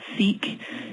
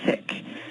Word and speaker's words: Sikh: a little tidbit - it's not seek it's actually sick that's how you pronounce